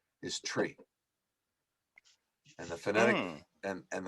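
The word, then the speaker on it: three: For instance, the numeral 3 is tree, and the phonetic Mm. and the phonetic pronunciation for Q is Quebec.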